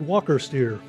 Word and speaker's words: Walker: James Steer, but it says pronounce it Walker Steer.